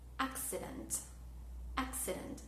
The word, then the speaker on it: accident: Cuando tenemos la tríada CCE o CCI, suena diferente. Ejemplo, la palabra accident. Fíjense que suena más como una X acá.